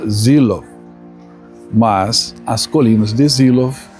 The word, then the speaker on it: Seelow: não tinha estado aqui, não tinha ouvido do próprio alemão que que se pronuncia Zilov, mas as colinas de Zilov estão aí no canal para você curtir, tá bom?